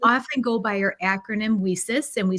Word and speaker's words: WiCyS: go by our acronym wesus and we spell that w-i-c-y-s we pronounce it we cis like we sisters because that's exactly what